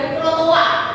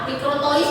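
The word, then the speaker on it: microtoise: Lalu ini ada mikrotoa. Mikrotois biasanya tulisannya. Tapi ditulis ee tiparan bacanya mikroa ini tu sebenarnya gambar infantometer.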